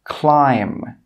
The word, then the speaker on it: climb: an M at the end of a word, it's normally not pronounced. Some common examples are climb, crumb, tomb, bomb, comb. You can see here that in all of these words, we do not pronounce that final B sound.